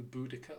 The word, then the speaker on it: Boudicca: will be aware of who Boudicca or Buddhist seer depending on your pronunciation is you may have